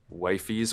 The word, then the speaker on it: Wifies: my name is that it's pronounced Wifie's, which technically there's no actual right way to pronounce it. It's up for like artistic interpretation. I just say Wifie's because that's how I read it first.